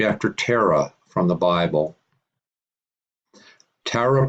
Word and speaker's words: Tara: Tara, pronounced Terah by many. Some pronounce Tara to sound like Terah from Genesis, others like Tara.